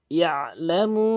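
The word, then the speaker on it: يعلم: ইয়ালামু মা বাইনা আইদিহিম ওয়া মা খালফাহুম, এখানে ইয়ালামু, এখানে আইনের উচ্চারণ করতে হবে চাপ দিয়ে, ইয়ালামু। অধিকাংশ লোক ইয়ালামু বলে, ইয়ালামু আইনের উচ্চারণ বাদ দিয়ে ফেলে।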